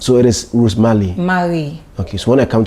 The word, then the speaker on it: Marie: But yours is Rose what? Marie. Rosemary. L-I. M-A-R-I-E. M-A-R-I-E. Marie. Is it R or Al? R. Is that how you pronounce it? R, yes. Marie.